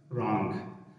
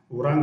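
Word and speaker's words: wrong: هر کله چې له ډبلیو نه وروسته آر راسي نو ډبلیو څه ده سایلنټ نه تلفظ کېږي. لکه رایټ رانګ ورانګ به نه وایاست رانګ اشتباه یا غلط.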